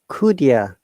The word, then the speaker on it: could you: In this situation, we will pronounce it like could you or could you? Could ya? Not could you.